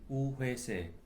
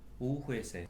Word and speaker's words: Woo Hwese: My complete name is actually Woo Hwese in Korean. Woo Hwese. That's what I was told, and but my Cantonese name actually is Wai Sai, so it's completely different. But it's the Korean pronunciation is much closer to the Mandarin pronunciation.